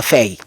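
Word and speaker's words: Faye: le duo Ousman et feille ou faille on dit on dit on a on prononce à feille et c'est un duo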